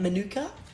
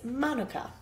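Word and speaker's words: Mānuka: So I think most of us Aussies are used to pronouncing it Manuka. The correct way of enunciating it is Manuka.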